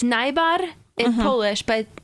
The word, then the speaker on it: Najbar: your last name NB nyar Nar yes yep the J is silent it's nyar in Polish but it's